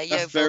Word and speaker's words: Yeovil: Is that pronounced correctly? Yeovil. Yeah, Yeovil That's Town.